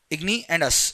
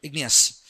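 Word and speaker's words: igneous: Remember the pronunciation igny and us. You have to remember ignous.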